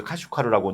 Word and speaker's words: 카슈카르: 때문에 이 카슈카르는 이제 한문으로 쓴 걸 보면 이제 각십이에요, 각십. 각십인데 우리가 이제 이걸 이제 카스라고 읽고 우이구르 사람들 말로는 이제 카슈카르라고 이제 하는 건데 카슈카르는 그동안 경유했던